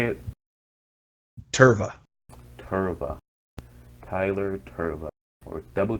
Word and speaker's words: Tirva: Tirva.